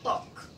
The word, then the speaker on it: talk: The L is silent. When you say silent, tahimik. Ibig sabihin, hindi natin sinasabi or hindi natin pinapronounce yung sound na L. Hindi siya magiging talk. Magiging talk lang siya. Talk. Okay? Talk. Katulad din to yung sa walk. Di ba ganito din spelling ng walk? W lang yung naiiba. Hindi natin sinasabi yung letter L kasi it's a silent sound.